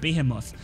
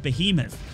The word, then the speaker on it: Behemoth: how to pronounce the I said BAE him off but you guys told me it's called behemoth and the behemoth robot